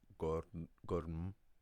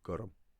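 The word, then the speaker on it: gorm: A little vowel sound is added there, so it's not pronounced gurm or gurm. It's pronounced gurm.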